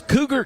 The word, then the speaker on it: Cougar: Batting sixth is Cougar Cook, third baseman. His switch hitter is Cougar Cook. You better be a switch hitter. You got a name like that, Cougar Cook. Spelled like Cougar.